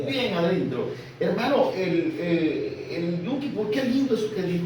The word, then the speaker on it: Yom Kippur: Pero los judíos hasta el día de hoy celebran el Yom Kippur, así se pronuncia, hermano, Yom Kippur.